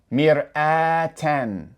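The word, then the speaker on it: مرآةً: So the ta marbuta with tanween fatha would be pronounced ten, ten. So now if we pronounce this entire word, it would be mir'atan, mir'atan.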